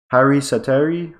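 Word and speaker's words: Harri Säteri: Harry Sateri, that's how you say his name, a 1-year, $650,000 a year, for 1 year, sorry.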